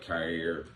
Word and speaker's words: Kaiir: Number 4, I went Kaiir. That's how you pronounce Kaiir.